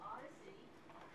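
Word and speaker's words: OHDSI: It's called Observational Health Data Sciences and Informatics, which we pronounce the Odyssey.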